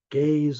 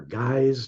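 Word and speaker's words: GAISE: want to talk about the Gaye or guys depending how you say it guidelines these are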